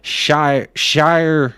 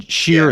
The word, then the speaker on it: Shire: Shire as in shear a sheep. No, Shear. Shear, not Shire.